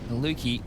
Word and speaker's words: Maluki: Maluki rhymes with fluky.